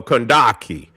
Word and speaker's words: Kandake: So, it is pronounced uh Kandake. And in the Bible they were referred to as the Candace queens.